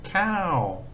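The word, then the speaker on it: ข้าว: So this here is the word for rice with a falling tone, cow.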